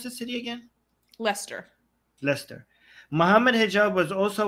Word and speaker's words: Leicester: are like they're like why is Lester spelled like that but pronounced like Lester do you want to